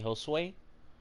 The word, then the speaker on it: Josue: or if you want to call me Josue, that is Josue. So don't mess that up. Or if you want to pronounce it like Ho, so Hoe, and then Sway, you know what I mean?